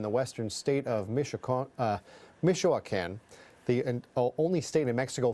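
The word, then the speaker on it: Michoacán: mexico add during the super bowl and back meechula can more like mitchuo can't no it's pronounced mijo akan everybody the colonizer could not pronounce that state of mexico it's michoacan so yes avocados you might eat them you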